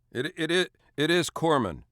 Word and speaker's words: corpsman: it is it is Corman you don't pronounce the S yeah I mean it's not very good for a guy delivering first aid to be called a corpsan yeah yeah kind of